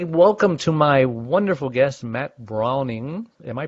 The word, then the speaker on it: Brauning: It's spelled B-R-A-U-N-I-N-G, so it's Brauning, like German, but it's hard to say that over the radio wave.